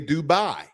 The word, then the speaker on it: Dubai: Again, I heard that from one of the sheiks that the actual pronunciation is Dubai, not Dubai. But again, global verbiage, language, linguistics, states that it's Dubai to the American tongue.